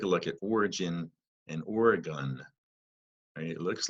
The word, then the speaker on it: Oregon: look at origin and Oregon it looks like it should say Oregon but the state of Oregon is pronounced as if the word gun is at the end so there's so they're